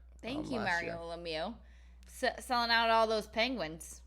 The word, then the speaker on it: Lemieux: Lemieux. Lemieux. What sport do you think he played? He's definitely French, because an X at the end of any name and then pronounced Lemieux.